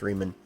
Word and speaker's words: Riemann: I believe that would be pronounced Riemann.